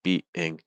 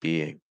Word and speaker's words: being: when you're trying to in the word being when you're trying to go from that e sound to the in adding a slight very slight Y sound to it it's like somewh likeing Bing Bing it's not Bing it's B being being add a slight Y in there um very slight and